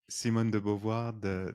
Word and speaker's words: Simone de Beauvoir: Simone de Beauvoir, Yes. yeah. Yeah, so he wrote a book, which I can't pronounce the name, called The Second Sex.